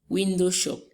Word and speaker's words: window shop: Window shop. We have our stress on the first syllable of the first word.